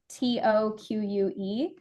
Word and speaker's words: toque: the second one I have is a tuque that's spelled t o qu e um it is a French word uh and